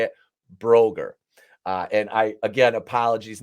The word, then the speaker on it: Broegger: not going to be able to say it Broger uh and I again apologies welcome to